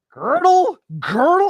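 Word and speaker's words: Kurt Gödel: Girdle. It's not pronounced how you think it would be.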